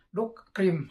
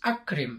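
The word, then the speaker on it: أكرم: Jadi nggak boleh dibacanya ya Muhammadu dukrim, nggak boleh. Jadi harus akrim, harus dibunyikan. Ya Muhammadu akrim doifaka.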